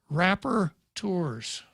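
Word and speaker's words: rapporteurs: rights council what had happened was that three rapper tours thank you pete for the proper pronunciation of that term had written a letter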